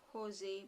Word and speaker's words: Jose: what the google says we have to pronounce it as jose mourinho but the spelling is j-o-s-e jose b-u-o-n-o so this is about